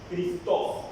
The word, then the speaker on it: Christos: Ahora, la palabra Cristo proviene de una palabra griega que es Cristo, con J, Christos, acento en la O, proviene de ahí.